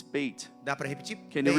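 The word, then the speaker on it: בית: segunda letra do The alfabeto hebraico second of the Hebrew é alphabet, Beit. it's bait.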